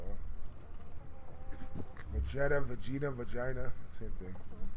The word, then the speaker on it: Vegeta: Vegeta.